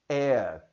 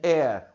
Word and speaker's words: heir: Our, honest, air, airship, honorable. Elas iniciam com H, mas você não vai pronunciar este H. Vai ficar apenas an hour, uma hora. An honest man, um homem honesto. An heir, um herdeiro.